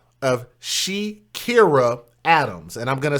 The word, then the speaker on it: She'kierrah: And he shot and killed this young woman right there by the name of Shekira Adams. And I'm going to spell that for you.